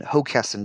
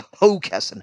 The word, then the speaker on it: Hockessin: It's in Hockessin, Delaware. And that's Hockessin, not Hockessin, although that's how it's spelled.